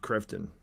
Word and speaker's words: Kveton: Josef Kveton. That's how they pronounced it there.